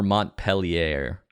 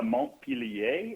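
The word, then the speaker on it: Montpelier: in uh Burlington or Mont peler it's moner if he wants to get the pronunciation uh right how does he know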